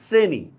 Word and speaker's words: শ্রেণী: যেমন দেখেন আমি বানানে লিখছি শ্রেণী, তালব্যস্য দিয়ে লিখছি, কিন্তু উচ্চারণ তো আমরা শ্রেণী করি না, আমরা করি কি, শ্রেণী। তার মানে এস এর মতো উচ্চারণ করতেছি। যেহেতু আমরা এস এর মতো উচ্চারণ করতেছি এই জন্য আমরা দন্ত স দিচ্ছি।